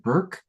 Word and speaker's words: Bork: So our beloved Hannah Burke, spelled like Bork, but pronounced like Burke, is going to close us out this evening.